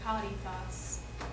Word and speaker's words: caritas: Most of the time, C is going to be notated that and pronounced like a hard K. Cum sancto spiritu. Sancto spiritu. And like ubi caritas. Ubi caritas. Okay.